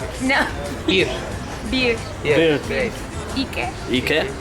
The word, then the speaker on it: iki: Iki, and duş. Turkish. Bir. İki. İki. 3. 3. Alkış. One, bir. Bir. 2. 3. 3. También es bir. No. Bir. Bir. Bir. İki.